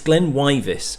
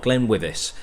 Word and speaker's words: GlenWyvis: It's GlenWyvis, not GlenWyvis, and I want to make sure that things are done correctly.